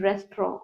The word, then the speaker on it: restaurant: This T is silent. This is restaurant.